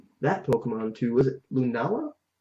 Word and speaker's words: Lunala: Was it Lunala? How do you say that? Well, it is Lunala.